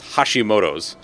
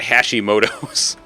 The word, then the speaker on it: Hashimoto's: because he also has hashimoto's which i just butchered that pronunciation it's hashimoto's not hashimoto's wow oh man um